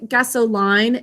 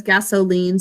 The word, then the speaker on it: gasoline: consonant vowel pattern but instead of saying gasso line it says gasoline so we'll also put